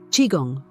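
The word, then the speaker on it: qigong: living eight energetic vibration and the chiong technique chiong pronounced chiong is based on Ancient Chinese philosophy chiong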